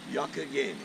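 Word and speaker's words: Youghiogheny: How do you pronounce the name of this river? Yokogany.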